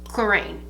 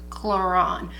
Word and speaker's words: Clarins: So the first brand I'm going to start with is Clarins. And I know, for those of you who know, maybe some of my François out there, French people, it's actually pronounced Clarins, but I am from Midwest Ohio.